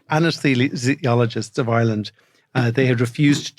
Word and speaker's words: anesthesiologists: the College of anise anesthesiologists can I say it anesthesiologist for sorry I I I I put the emphasis in the wrong syllable anesthesiologists of Ireland they had